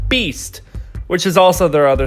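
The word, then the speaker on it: B2ST: Now, if you know your Korean numbers, the 2 is actually pronounced like E, so it's Beast, which is also their other stylization of their name.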